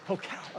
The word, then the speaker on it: Pokel: Did I pronounce it right? Is it Pokel? Pokel, okay.